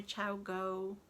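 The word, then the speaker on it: ChiaoGoo: It's very thick, actually, I find, and it's been worked on my Chow Go, that's how you say it, 2.25 needles, and it's a Peruvian yarn, I believe.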